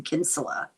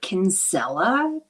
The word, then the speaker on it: Kinsella: her mother's maiden name, Kinsula. I knew a lot of Kinsulas. Sometimes in America they pronounce it Kinsella. She might have, but Kinsella is how I know it.